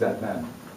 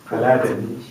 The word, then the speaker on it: Adnan: regular way by saying my name is at n which is simple a d n a n but I've heard all different noun pronunciation for my name my favorite two is Aladdin that's after the moviein came my other one my other favorite one is uh believe it or not Batman I have no idea